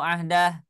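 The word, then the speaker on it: عهده: Ahdahu atau ahdah? Ahdah. Baik ya. Betul. Alhamdulillah. Berarti bacanya ahdah ya, tidak dibaca panjang ya.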